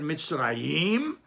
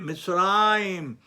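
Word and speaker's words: מצרים: But we don't read the word Mitzrayim, we read it Mitzrayim. So that's considered Milarel, the syllable before the last.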